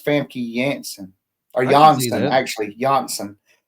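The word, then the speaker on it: Famke Janssen: The J the J has a Y still it retains the Y sound. So it's Fami Yansen or Jansen actually.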